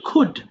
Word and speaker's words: could: পারো অনেকে বলে ফেল এখানে এল এর উচ্চারণটা হবে না হ্যা এখানে হবে কি সিম্পল কুড খয়রসুড কুড আর এখানে